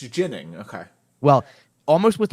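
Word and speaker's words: Ginning: talking about this today almost with a little bit of a um like an Alexi jnik kind of pronunciation but it is a soft sound so it's it is not yining which is what Jin yining is more of what the Swedish pronunciation should be but he has said it's it's jinning man if he ever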